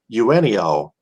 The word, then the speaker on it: Eugenio: four-star defensive end Mario Eugenio. Of course, that would be pronounced the same way Eugenio Suarez, a former Detroit Tiger.